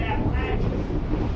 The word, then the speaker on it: Appalachia: That's how you say it, Appalachia.